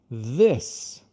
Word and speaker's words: this: Aí com palavras como this, você vai soprar com a letra Z.